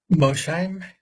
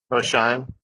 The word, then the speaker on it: Mosheim: So in this main session, our first speaker is Mosheim. Did I pronounce that right? Mosheim. Mosheim.